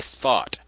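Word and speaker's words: Thoth: light this was created or conjured up by thought thought is the egyptian god thought the creator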